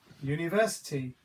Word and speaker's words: university: give you an example University it starts with the letter U which is a vowel however if you listen to the sound it is not a vowel sound u u University it's actually starting off with a u sound yeah it's got a Y sound that is not a